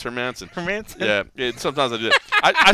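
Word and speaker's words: Hermansson: sometimes i mispronounce it i said hermits i said hermansen forever and then i was like oh it's her mansion yeah sometimes i did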